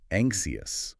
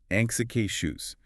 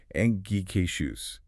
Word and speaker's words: anxious: So many learners want to say something like anxious or maybe anxious, but the correct American English pronunciation is anxious. That X makes a K sound, followed immediately by a shoe sound. Anxious.